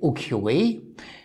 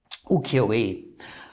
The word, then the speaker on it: ukiyo-e: So today I will explain the word ukiyo-e, nikishi-e, kacho-e, musha-e, senso-e, and sumo-e. You will have recognized this all ends with an A in European pronunciation, or in American English, you would say E.